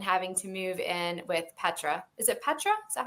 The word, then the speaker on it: Petra: Daphne finds herself unceremoniously tossed out and having to move in with Petra. Is it Petra? Is that how you say her name? Petra is who, Peter's living.